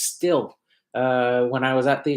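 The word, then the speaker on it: Stihl: I keep saying Steel, although it's actually pronounced Still. When I was at the Equip Expo, I asked them, "Is it Steel or Still?" And they all said it's Still. It's a German company, and it's pronounced Still, which is funny because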